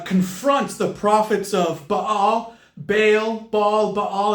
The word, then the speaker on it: Baal: the prophets of Baal Bale ball Baal there's many different uh pronunciations the Middle Eastern pronunciation is probably closer to Bal but you probably are familiar with the pronunciation of Bale uh but this is